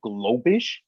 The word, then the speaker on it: Globish: on facebook is called globish so it sounds exactly as it it's spelled exactly as it sounds um g-o-g-l-o-b-i-s-h and they're